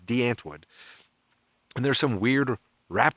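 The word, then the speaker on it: Die Antwoord: de anwood de antwood it's spelled die antwood if you're in America but it's de antwood and there's some weird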